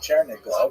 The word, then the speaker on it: Chernigov: And there's another, Isaac of Chernihiv, sometimes recorded as Isaac of, or Yitzhak of Chernigov, that would be the Russian pronunciation of the same place.